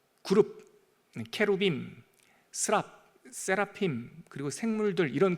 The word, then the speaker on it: 케루빔: 어 원래 발음으로는 발음으로는 케루빔 빔 그러면 복수고요. 어 케룹 그러면 단수예요. 케룹이 모여 있으면 케루빔.